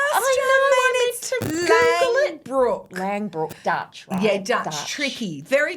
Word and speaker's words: Langbroek: people, and finances with Julia Morris and Kate Longbrook. Did I pronounce that correctly? You fumbled the ball at the I know. I just just wanted to Google it. Lbrook Langbrook.